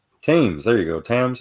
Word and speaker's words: Thames: Oh, the Thames. Thames, there you go. Thames. How do you pronounce it?